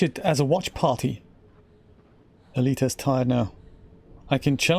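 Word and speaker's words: Aelita: here without falling off elite russian pronounced elita oh i kind of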